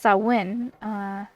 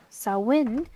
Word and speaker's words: Samhain: Samhain, pronounced Samhain, Samhain, is derived from the